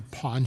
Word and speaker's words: pawn: That's P A W N. It's not how I pronounce it. When you're from Boston, you have to be really careful about how you pronounce those things because you uh remember telling my mom I was in Vegas and I went to a pawn shop and she thought I went to a porn shop and I was no I wasn't buying pornography.